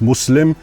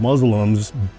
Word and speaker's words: Muslim: It's not Islam, it's Islam. And it's not Muslim, it's Muslim.